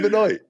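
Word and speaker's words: Benoît: It's got to be Benoy. Yeah. And then when I meet a Benois and they're like, "Who are you?" You know, it's pronounced Benois.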